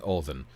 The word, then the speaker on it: Odin: they're worshiping Loki and they're worshiping Olden and they're calling him Odin and Loki which is fine pronounce it like an American I don't care uh